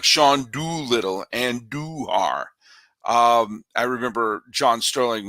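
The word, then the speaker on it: Andújar: with the A's and andu which is how you pronounce it and duar that's a emphasis on the do it's kind of like Shan doitt and doar um I remember John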